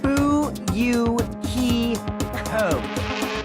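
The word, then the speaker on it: Fuyuhiko: last name is my first name is pronounced boo you he code i'm still an inexperienced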